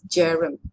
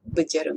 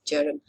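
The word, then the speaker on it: Bjerrum: Okay, so this is how they map the Jerem visual field. The B is silent, okay? It's Jerem, not Bejerem, it's Jerem.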